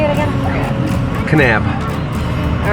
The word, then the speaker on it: Kanab: to go to dodge yeah get out of k nab how do you say it again kanab all right so let's get back on our